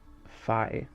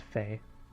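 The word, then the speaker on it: Fei: started playing this i thought it was uh phi but it's it's pronounced fae well yeah yeah it would be fae i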